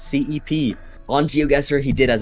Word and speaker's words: CPE: We got a lot of comments saying they're pronouncing CPE's name wrong. It's CEP.